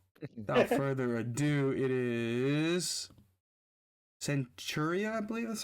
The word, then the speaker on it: Centuria: So, without further ado, it is Centuria, I believe that's how you say it, right? Yeah, Correct me. Centuria.